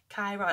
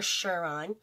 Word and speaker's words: Chiron: want to look where chiron chiron that's how you say it guys chiron i even put the pronunciation to learn it and not chiron or shiron like i was saying but anyways where is